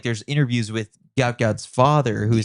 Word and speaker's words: Gout Gout: Like, listen, call me Gout Gout, and I'm good with it because.